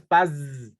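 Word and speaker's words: פז: cuando dice oro fino la palabra es Paz como como paz de en español pero es Paz Paz así se pronuncia que quiere decir este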